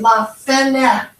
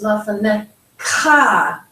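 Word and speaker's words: לְפָנֶיךָ: English to Hebrew is most of the time the emphasis is going to be on this last syllable. We tend to, with English, put emphasis on the middle syllable. So we might say lafanecha, but in Hebrew it's lafanecha. So we put more emphasis on the last syllable.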